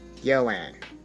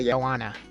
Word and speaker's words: Joanne: come to know was the Dutch pronunciation would be Joanne or Joanna.